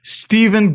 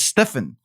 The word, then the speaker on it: Stephen: This is the same organization that actually mispronounced Stephen Gursky's name. The woman literally led him as Stefan.